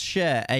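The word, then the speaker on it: Schär: my question uh no he's actually pronounced share a equals a e now large you've made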